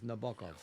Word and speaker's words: Nabokov: closer to Periel's pronunciation. No, she said Nabokov. no, I said Nabokov. It's Nabokov.